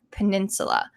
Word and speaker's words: peninsula: And I want to help you pronounce this word peninsula, because it could be kind of tricky. When you say it kind of sounds like a U, peninsula. So you're going to say that second U in the same way, peninsula.